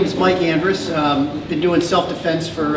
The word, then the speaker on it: Andrus: the way it's Mike Andress Andress and it's just it's pronounced just the way it's spelled I have no idea why I did it but it's Mike Andreas and I think it's